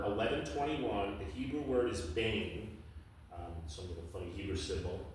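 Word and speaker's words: בֵּן: The Hebrew word is bane. Some little funny Hebrew symbol, not spelled that way, but that's the phonetic pronunciation for it.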